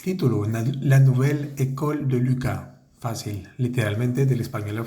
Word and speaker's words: Lucas: la nuvel ec de Luca Luca los nombres que terminan con s no se pronuncian bueno en este caso la s no se pronuncia Lua la nuvel éco